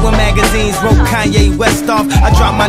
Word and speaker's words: Kanye: Now all I need is y'all to pronounce my name. It's Kanye, but some of my plastics still say Kane.